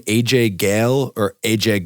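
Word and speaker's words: Ghale: gal AJ Gil no it's it's gal they even Pagan says it yeah that he says it in the beginning and then like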